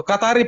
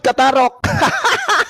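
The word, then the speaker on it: καθαροί: Katari betul kan? Tadi kamu nggak menyebut Katari tadi, kamu menyebut Katarok.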